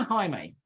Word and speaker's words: Jaime: Parky, Ruben, Arena, and Jaime. And the last one? Okay. It may look to you like Jamie, but that's not how it's pronounced.